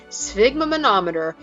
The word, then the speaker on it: sphygmomanometer: I remember seeing one of these at my doctor's office when I was a kid, but I'd never heard the name sphygmomanometer and it is too cool a word not to share.